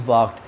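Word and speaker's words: walked: वॉक्ड, वॉक बोलते हैं, डब्ल्यू ए के ई डी, वॉक्ड, इसमें एल हम साइलेंट बोलते हैं, ठीक है।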